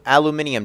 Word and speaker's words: aluminium: And yes, it is aluminium. I know that's not the right way to say it, but I guess a British person made this mod, so we have to go British on their ass or something.